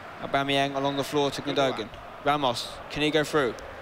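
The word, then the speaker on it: Gündoğan: He's another one that's hard to pronounce. It's Gundogan, I think is the way you're supposed to pronounce it. But I am lazy and I say Gundogan. Right, here we go. You know, I think I say Gundogan. I try and say it German, despite he's not German at all.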